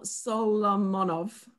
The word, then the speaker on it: Solomonov: So we want you to know, a few people have said this, that Michael Solomonov, is that how you say it?